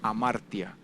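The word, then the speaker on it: ἁμαρτία: si viene de la palabra que se pronuncia amartya significa errar no lograr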